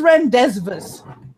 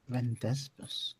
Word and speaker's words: rendezvous: And I looked at my parents and I said, "What is rendezvous?" Rendezvous. And my mom went, "What is what?" Rendezvous. It says so on the street sign. Rendezvous. Mom goes, "No, that's rendezvous."